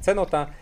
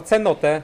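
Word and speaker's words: cenote: Po trzecie, oboje błędnie wymawiamy nazwę tej studni krasowej utworzonej w skale wapiennej. Ja wymyśliłem formę żeńską, cenota, zońka męską, cenot, a tak naprawdę polska nazwa to cenotę, hashtag gender.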